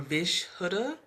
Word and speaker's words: Vishuddha: The word is Vishuddha or Vishuddha. The word is spelled V as in Victor, I, S as